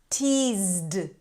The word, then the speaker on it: teased: Teased. This is a D sound after a Z.